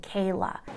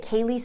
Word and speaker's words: Kaylee: Count 3, murder in the first degree of Kaylee Goncalves. Now, during the hearing, the judge pronounced her name wrong and kept saying Kayla.